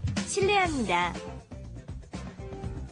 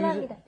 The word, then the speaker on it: 실례합니다: It looks like it should be 실례, which is almost impossible to pronounce, isn't it? Yeah. How do you say 실례? Because the vowel is yeah. But what happens is, of course, it just ends up being pronounced 실례, 실례, 실례합니다, 실례입니다. Right.